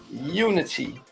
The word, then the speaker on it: Youni T: my good friend and it's pronounced Unity but it's not spelled Unity welcome Unity to the fusion stage